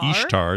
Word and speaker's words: Ishtar: For pagans, this is a period represented by the god Ishtar, or Ishtar is how you pronounce it, the god of fertility, who is represented as a rabbit.